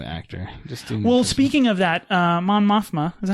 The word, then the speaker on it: Mon Mothma: Well, speaking of that, Mon Mothma, is that how you say her name?